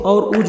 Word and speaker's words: عروج: کا نام رکھا گیا۔ ترک عروج کا صحیح تلفظ نہیں کر سکتے، وہ اسے اور اوج بولتے ہیں۔ عروج اور خیر الدین